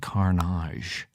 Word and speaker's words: Karnage: not a pirate and definitely pronounce it Carnage.